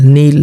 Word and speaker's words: kneel: KNEEL, नील, नील का मतलब घुटना टेकना, ठीक है।